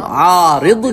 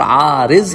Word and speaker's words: Aariz: तो बहरहाल ये चंद माना है इस नाम आरिद के अगर अरबी में कह रहे हैं, और आरिज के अगर उर्दू में कह रहे हैं, क्योंकि उर्दू में दाद नहीं ज़ाद प्रोनाउंस किया जाता है.